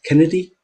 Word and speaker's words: Canedy: Is it Kennedy? That's right. Canedy Cool. is the correct So, pronunciation.